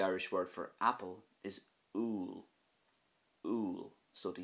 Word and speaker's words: úll: And the Irish word for apple is úil.